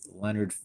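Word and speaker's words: Lynyrd: with the situation of the shame the physical pronunciation of this name is Leonard Skynyrd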